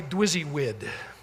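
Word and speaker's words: DWYSYWD: They called it simply dwizzywid, is how you pronounce that, which stands for what, would you guess?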